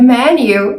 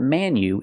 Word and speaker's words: menu: pronounce the word Manu it's not Manu it's me me menu it's a short close sound e like 10 and bed me me men menu